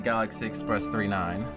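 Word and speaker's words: Galaxy Express 999: the theme song the Galaxy Express 39 pronounced 39 but spelled 999 funny Title by the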